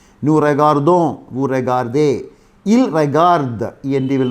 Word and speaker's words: regardent: Regarder is to look at. Je regarde, tu regardes, il regarde, elle regarde, nous regardons, vous regardez, il regarde. R-E-G-A-R-D-E-N-T. We don't pronounce E-N-T, regarde.